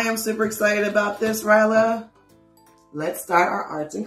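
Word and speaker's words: Rhyla: This is the kitty octopus, Rylo's name. You see all that? And her name is spelled R-H-Y-L-A. Rylo. Yep.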